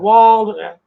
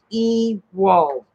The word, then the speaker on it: Ewald: have been having called Wald, everything else. I says no, the E is pronounced Ewald.